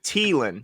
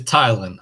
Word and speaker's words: Tylan: is i heard some people say teelan so is it teelan is it thailand can you clarify his his pronunciation it is thailand i thought by that